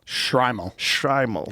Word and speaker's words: Shtreimel: Shtreimel? Shtreimel. Yeah. The Shtreimel was adopted by Eastern European Jewish communities in the 18th century and coincided with the rise of Hasidic Judaism. Technically, a Shtreimel is one particular style of hat.